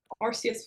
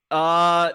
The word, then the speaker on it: Arceus: I thought it was like pronounce it- Arceus. There's technically 2 pronunciations. There's Arceus, which is the original, and then there's the European version, Arceus, Oh. which exists because Arceus starts with Ars.